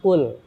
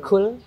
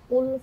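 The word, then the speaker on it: قل: Al Ikhlas Yang Pertama full Katakanlah tapi kalau kita salah geser dikejar pengucapannya bukan full tapi cool menggunakan kaff cool huwallahu Ahad Makanlah dialah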